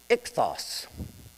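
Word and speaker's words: ΙΧΘΥΣ: Now the fish in Greek is pronounced ichthos. So when anyone would see it who was knowledgeable, they'd say ichthos.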